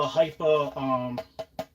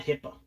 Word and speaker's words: Hipa: This is a Hypa, and it's not HIPAA. This it sounds like HIPAA law. Everybody keeps saying it wrong.